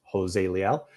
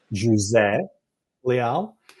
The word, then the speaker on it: José Leal: My name is Jose Leal, or as Christine knows how to pronounce it, José Leal. I'm Portuguese, and that's the way we pronounce it in Portuguese. But of course, I'm in California, and everybody's a Jose around here, so you can't pronounce it any other way.